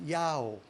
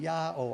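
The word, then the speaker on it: IAO: And interestingly enough, in early England, they worshiped God by the characters I-A-O, pronounced Yao, which is the northern house of Israel's name for God, the house of Israel, there in ancient England, Yao, I-A-O.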